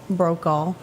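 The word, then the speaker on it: Brokaw: right Tom Brooks brought how do you pronounce it broke off broke all yep he was born today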